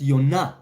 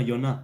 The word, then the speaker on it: Jonah: I meant Jonah pronounced Yonah. Oh, I see. Yes, that is Jonah, Yonah.